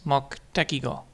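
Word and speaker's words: 目的語: So, that's moku but we don't speak out U.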